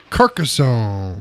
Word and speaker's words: Carcassonne: poop eating grin that's true Carcassonne is that how you actually pronounce it yeah yeah it's a good game